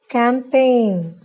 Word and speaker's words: campaign: The letter G is not pronounced if a word ends in GN. For example, design, foreign, sign, campaign. If GN comes in the